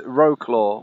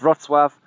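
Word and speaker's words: Wrocław: but one of the names it's not is Wroclaw which is how a lot of English speakers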